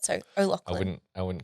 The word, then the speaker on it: O'Loughlin: So just think Lachlan, like Lachlan. the boy's name. Okay. Just put an O in front of it. So O'Loughlin.